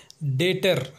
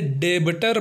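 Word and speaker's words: debtor: है हमारा पांचवा एग्जांपल है डेटर जिसका हिंदी अर्थ होता है कर्जदार ऋणी या फिर दिवालिया कई लोग इसे डेबिटर पढ़ते हैं लेकिन यह डेबिटर नहीं डेटर होता है चलिए अब देख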